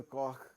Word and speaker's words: Koch: you get is the Koch curve or the Koch curve, depending on how you like to pronounce it.